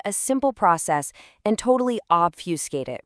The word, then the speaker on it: obfuscate: It's a verb this time, obfuscate, pronounced O-B-F-U-S-C-A-T.